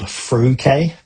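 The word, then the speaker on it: Freuchie: a rural village called Fruquet. And the pronunciation of that's really interesting because how it's spelt as it's written doesn't look anything like it.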